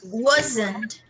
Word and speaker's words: wasn't: Observe, observe that we don't pronounce the final T so strongly. No, it is not strong enough really. It's very weak. So we emphasize the first part of the verb.